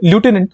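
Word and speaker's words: lieutenant: वो वर्ड को ढूंढिए लूटिनेंट को जिसे हम लेफ्टिनेंट भी कहते हैं।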